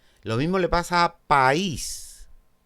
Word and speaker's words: país: Lo mismo le pasa a país. País. Dos sílabas, la cerrada es tónica, va junto a una abierta, por lo tanto, hiato y tilde.